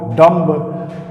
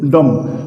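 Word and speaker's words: dumb: सी ओ एमबी अभी भी लोग मोस्टली इसको कॉम्ब बोलते हैं। Comb comb थंब बॉम्ब डंब but actually होता क्या है? इसकी प्रोनंसिएशन अलग ही है। इसमें बी साइलेंट होता है। बी साइलेंट होता है। तो क्या हो जाता है? सी ओ एम बी कॉम टी एच यू एम बी थंब बी ओ एम बी बम डी यू एम बी डम।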